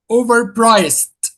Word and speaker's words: overpriced: How many syllables are there? Two. Three syllables. O. That's a syllable. Yes. O. That's a syllable. O. Ver. That's the second syllable. Priced. That's the third syllable.